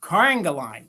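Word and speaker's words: Carrigaline: Now, I wrote down phonetically how to say this next company. It's, I think it's Carangaline. That's how they said it phonetically.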